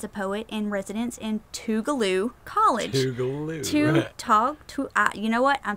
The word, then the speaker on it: Tougaloo: I'm saying it right. It is Tougaloo. It is Tougaloo.